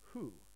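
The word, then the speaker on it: ふ: changes a little bit it's written as F and U but pronunciation is who so it sounds like wh but uh for writing it's usually written as Fu I know that doesn't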